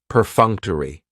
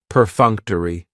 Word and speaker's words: perfunctory: very cool word perfunctory perfunctory has four syllables and the stress is on that second syllable that funk per Funk toai that third syllable has the schah and it's going to end with that long e sound perfunctory perfunctory if something